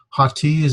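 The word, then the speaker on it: ὅτι: Ha-T is a particle. There's the rough breathing. So you pronounce it like an H in front of it. So it'd be hati, you know, like something's hot. Hati.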